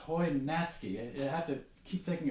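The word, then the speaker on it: Hojnacki: h OJ na a Ki but it's it's pronounced Hoy natski I have to keep thinking about that still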